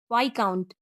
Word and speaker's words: viscount: कुछ अन्य वर्ड में भी एस साइलेंट होता है, जैसे DEBRIS डबरी, VISCOUNT वाई काउंट, इसमें भी एस साइलेंट है।